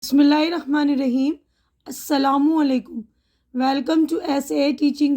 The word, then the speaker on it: السلام علیکم: پیاری امی۔ تو دیکھیے، میم کے اوپر پیش ہے تو السلام، صحیح تلفظ السلام علیکم ہے۔ وعلیکم السلام۔ اب اسکول سے آتے ہی کس چیز کی مانگ؟